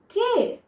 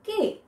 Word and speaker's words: ke: এখন আসা যাক কে, কে, what does it mean by কে, ঠিক আছে? উচ্চারণটা আমি কিন্তু এভাবে করছি, কে, ইটস নট কি বা ক, ইটস কে, কে, ভেতর থেকে আসছে জিনিসটা, আপনার সিলেবলগুলো কিন্তু ঠিকভাবে জানতে হবে।